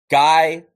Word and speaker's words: Guy: the tutelage of Coach Guy miio it's actually pronounced G because it is French cameronian but guy moodo